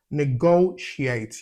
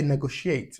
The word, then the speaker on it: negotiate: affection yeah negotiate affection negotiate you see I didn't say negotiate like it's ne go so it's stress on the second syllable so take note of